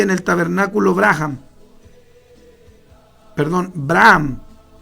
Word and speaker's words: Abraham: el tabernáculo graham perdón abraham es que la h la pronuncia lo americano como j entonces tiene que leerse braham lugar donde escogí a